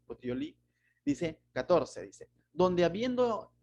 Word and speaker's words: Puteoli: Llegamos a Regio y otro día después, soplando el viento al sur, llegamos al segundo día a Puteloi, Puteoli, no, es una palabra un poco difícil de pronunciar, Puteoli.